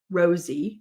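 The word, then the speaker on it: Rozzi: see I don't think Rossy and Baldwin Rosie is the way he pronounces it um Rosie and Baldwin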